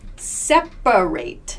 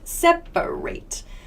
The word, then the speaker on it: separate: words for example here in this word separate separate so we don't say separate in everyday speech this a right here becomes a schwa separate separate separate so